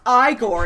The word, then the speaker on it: Igor: Like, when he first meets Igor, he's like, it's pronounced Igor, and he's like, he's just fucking is with it?